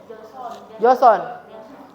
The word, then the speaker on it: Joseon: Bacanya gimana tuh? Joseon.